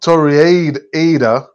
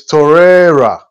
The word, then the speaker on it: Torreira: Anyhow, so, and then we had a comment here from 79 Sawa, and he says, it's not Torreira, it's Torreira.